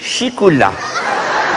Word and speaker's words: chocolat: on dit chocolat et chez nous on dit chicoula. Hein? Vous avez remarqué, hein? Ça vous a travaillé vous aussi, hein? Eh bien, ce n'est que maintenant que j'ai compris. Nous, on prononce chicoula parce qu'on a juste un peu. Chicoula, tu sais. Les Français, ils mangent du chocolat. Et nous, c'est du chicoula.